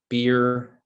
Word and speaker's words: Beer: uh my name is nate beer b-e-e-r like the beverage it's a bit of